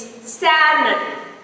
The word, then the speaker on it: salmon: It's salmon. It's salmon, not salmon. The L letter is silent in salmon.